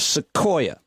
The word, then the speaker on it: sequoia: nailed the pronunciation of sequoia did he though i thought he had sequoia a little off too i thought it was more of a k than the q i know he did